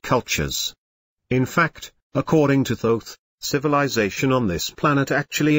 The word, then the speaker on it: Thoth: The person depicted here is a man named Thoth, pronounced with a long O. Someday people say Thoth, but he pronounces it Thoth.